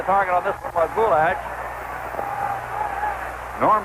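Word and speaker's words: Bulaich: The target on this one was Bouash. Norm Bouash. The name is spelled B U L A I C H but it's pronounced Bouash we are told.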